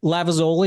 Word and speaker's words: Lavezoli: I'm Lavezoli. Am I pronouncing that close enough to correctly?